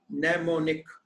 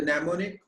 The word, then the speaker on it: mnemonic: commands of assembly language m n e m o n i c this m is silent mnemonic all right and this